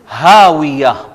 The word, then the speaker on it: هَاوِيَةٌ: اب یہ ذرا دو ہا اکٹھے ہو رہے ہیں، تلفظ میں تھوڑا سا مسئلہ آ رہا ہے، میں پھر سے دہراتا ہوں، ذرا غور کیجئے گا. فَأُمُّهُ هَاوِيَةٌ فَأُمُّهُ هَاوِيَةٌ.